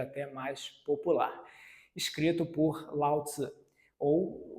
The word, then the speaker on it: Lao Tzu: talvez essa seja até mais popular, escrito por Lao Tzu, ou o nome mais popular, Lao Tse.